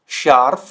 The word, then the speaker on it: scharf: तो देखिए एस से हा, एस से हा और एस से हा साउंड क्या कर रहा है, श, राइट।